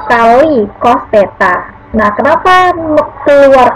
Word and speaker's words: theta: Theta, nah ini dibacanya theta ya, tulisannya seperti 0 tapi di garis di tengahnya, itu artinya sudut, sama dengan 60 derajat sesuai dari gambar.